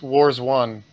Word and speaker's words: Warzone: Stop pronouncing the game wrong. It's Wars 1.